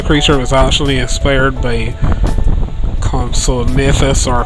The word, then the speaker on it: Compsognathus: This particular creature was actually inspired by Compsognathus, or Compsognathus if you want to pronounce it that way, in Jurassic Park, the original Jurassic Park.